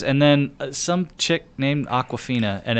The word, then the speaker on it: Awkwafina: Tony Leung or Leung is who that is, and then some chick named Aquafina, and it's spelled AWKWAFINA.